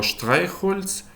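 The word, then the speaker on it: Streichholz: Вона може в окремих випадках вимовлятися як з, як в слові зон син, або в поєднанні з іншими приголосними може давати, наприклад, звук ша, як шулі школа або штрайхольс сірник. Наступна 20та літера за ліком - це літера Т.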